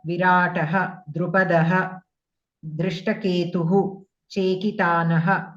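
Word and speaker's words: विराटः: You were pronouncing like yuyudhana, virata, like that you are pronouncing.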